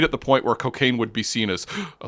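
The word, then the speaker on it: Cockaigne: chain but cocaine yeah it is pronounced cocaine but like I'm just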